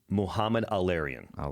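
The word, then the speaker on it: Mohamed El-Erian: I can reciprocate only because I've heard his name pronounced Please help so me. many times on Bloomberg. It's Muhammad Al-Arian.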